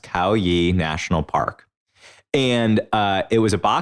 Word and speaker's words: Khao Yai: there, a national park that I believe is pronounced Khao Yai National Park.